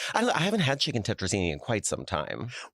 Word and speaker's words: tetrazzini: It's just as well, I'd say I haven't had chicken tetrazzini in quite some time. Well, I like when people say it and they mispronounce it. How do they say it? Well, kicking crekazzini, I've heard.